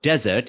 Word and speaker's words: desert: the first one of course you need to pronounce words properly like yes you need to show that when you speak about desert it's actually a huge land with a lot